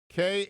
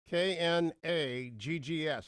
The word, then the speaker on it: Knaggs: It's K, which is silent for you Steelers fans out there, Knaggs. Knaggs. Knaggs is going to be